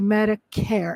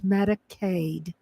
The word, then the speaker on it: Medicaid: I've heard a lot of people on the news mispronounce and say Medicare. It's Medicaid. uh when you if you're receiving SNAP benefits, there could be stricter eligibility.